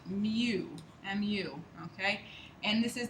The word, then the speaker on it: mu: It's pronounced mu, M-U, okay?